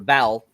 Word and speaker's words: Vel: I think it's Vel, actually, because it's spelled V-E-L, but I swear they call her Val. So I think that's funny that they have an E in there and not an A.